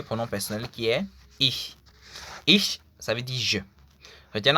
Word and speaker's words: ich: Ich, ça veut dire je. Retenez en fait que la prononciation en allemand est très importante et très capitale aussi.